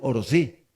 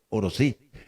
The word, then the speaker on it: Orosi: indígena estamos de acuerdo nosotros es oro sí porque la forma del acento es oro sí y oro cae también